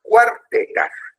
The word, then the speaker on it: Cuartetas: No, no empezaba con Q, empezaba con C, pero se pronuncia como si fuera un Q. Y era Las Cuartetas.